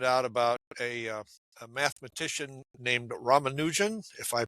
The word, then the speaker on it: Ramanujan: ago, I found out about a mathematician named Ramanujan, if I pronounce his name correctly.